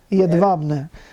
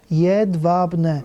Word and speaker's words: Jedwabne: Jedwabne. J is pronounced like a Y. Yeah, okay. W is pronounced like a V. Jedwabne. Okay, Jedwabne.